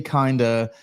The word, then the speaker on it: Kinda: She says Billy Kinda is pronounced like it rhymes with Linda.